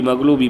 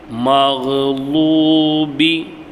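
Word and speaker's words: مغضوبِ: சொல்லுவோம் மக்லூபின்னு சொல்லக்கூடாது மக்லூபி மக்லூபி மக்லூபின்னு சொல்லக்கூடாது மஹ்லூபி லூபி சொல்லக்கூடாது லாம் வேற லாது வேற மஹ்லூபி அலைஹிம் வலீன் வலல்லாஹ் தஜ்வீத்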